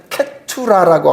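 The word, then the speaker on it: קטורה: 그두라고 하는 여러분이 말은 그 히브리에 보면은 케투라라고 하는 발음이 나오거든요.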